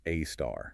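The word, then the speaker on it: A*: Often pronounced AAR.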